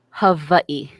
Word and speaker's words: Hawaii: So when we say Hawaii, how are you really supposed to say Hawaii? Hawaii. Really? Yes, the W's are V's because we don't have V's in the Hawaiian language.